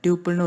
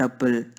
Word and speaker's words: tuple: Okay friends, இப்போ நம்ம Python programming லாங்குவேஜில் டியூப்பிள்னு ஒரு கான்செப்ட் பற்றி பார்க்க போகிறோம். இதை டியூப்பிள் ஆர் டப்பிள் எப்படி ஒன்றும் ப்ரொனவுன்ஸ் பண்ணலாம்.